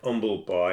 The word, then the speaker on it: Humble Pie: Each member put forward a suggestion in Marriott's Humble Pie, making clear, you pronounce it, umble pie.